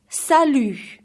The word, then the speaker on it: salut: to a good friend so let's repeat together Sal you one more time sadly so you have to